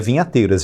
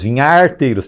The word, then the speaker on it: vinharteiros: atividade, né, dos vinharteiros, não é vinhateiros, vinharteiros, tem um R aí.